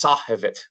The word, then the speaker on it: Sahivit: it was, which is now we know is Sahivit, would be how it's pronounced."